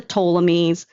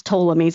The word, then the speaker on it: Ptolemies: the last of the Ptolemies, Well, first of all, you can't even pronounce Ptolemies. It starts with the letter P.